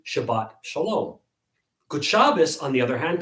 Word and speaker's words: Shabbat shalom: a peaceful shabbat right it's pronounced according to standard sephardic pronunciation shabbat shalom gutshabas on the other